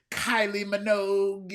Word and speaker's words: Kylie Minogue: out with this person from this band and Kylie Minogue, and so you just started naming people. That's how you pronounce that name?